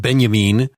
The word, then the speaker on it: Benjamin: Kirk put the force of non-violence this Walter benjamine essay spelled Benjamin pronounced benjamine was I believe the first thing that she